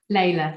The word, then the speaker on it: Leila: to come to uh is it lila is that how you pronounce it next yeah leila thank you taylor sorry leila is very much i